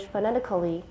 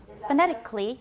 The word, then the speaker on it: phonetically: problems in transcribing english phonetically phonetically not phonetically we can get rid of that schwa phonetically phonetically is that